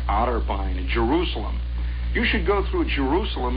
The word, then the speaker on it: Jerusalem: says Jerusalem Indiana and you can whistling at Jerusalem by the way is the way it's pronounced out there you start coming into Jerusalem